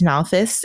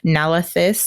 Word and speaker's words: Nalthis: And they discuss some of Eili's findings, like her notebook where it mentions Nalthis and Scadrial, which he corrects her Rosharan pronunciation, Nalathis and Scadariel.